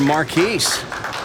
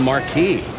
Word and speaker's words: Marquis: a good conversion for Marquis well I discovered that this entire season I've been pronouncing his name wrong I've been calling him Marquis its Marquis his dad tells me and I